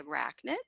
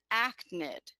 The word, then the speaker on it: arachnid: So the student says, means to say arachnid, they have it right, but they mispronounced it. And they said achnid.